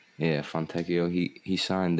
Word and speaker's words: Fontecchio: Fontecchio. Yeah, Fontecchio.